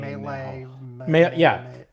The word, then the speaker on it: Milei: Milei. Milei. Anyway, you said GDP would not be back up to levels from before Milei.